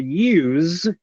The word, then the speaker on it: use: you will notice that the s in the word use sounds like a z sound use use now when